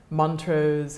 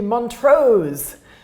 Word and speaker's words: Montrose: to hire i'm sorry my scottish husband is always incensed at the way that Americans put the emphasis on the wrong syllable in Scottish names Chicago is full of everything is called mantras or makan stantly hits like it should be Montrose so I suppose her name would be AB shires and they like that